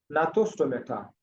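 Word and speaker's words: Gnathostomata: दूसरे super class का नाम था नाथोस्टोमेटा। जी, जी साइलेंट है। नाथोस्टोमेटा, ये सुपर क्लास है।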